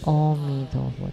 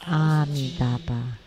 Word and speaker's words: Amitabha: In the movies, the monk would say Omi Tohut. That's wrong. Actually, it should be Amitabha.